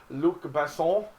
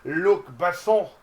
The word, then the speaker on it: Luc Besson: I feel pretentious when I say his name, but it's Luc Besson.